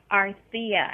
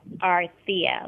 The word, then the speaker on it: Arthia: Arthia? Arthia, actually. Arthia. Arthia, like Arthur.